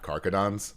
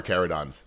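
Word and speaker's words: Carcharodons: I've already had the chat tell me I it's not Caradons. Um which I think it is, but whatever. Carerodons. Cararadons. Thank you.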